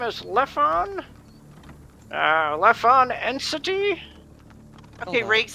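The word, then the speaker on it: Lephon: ah my name is leffon uh elephant entity okay rakes how the hell do you spell that doing it phonetically l-e-p-h-o-n left on yeah what was the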